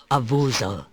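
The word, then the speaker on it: Avoozl: only where you must the dark one is called abusal that's how you pronounce it leave now and we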